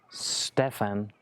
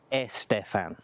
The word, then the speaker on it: Stefan: Remember, my name is Stefan. It's not Estefan, okay?